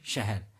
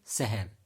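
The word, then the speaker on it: शहर: Okay, and proper pronunciation for this one is shahar, but there are few people who will pronounce it like a seher. So this is wrong. Okay, it's not at all clear. It has to be clear, right? It's kind of sh in English.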